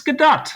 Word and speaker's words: Gadot: the the book or the play Waiting for GDAU as sort of a uh a pun, a play on her often mispronounced last name, but it's GDA.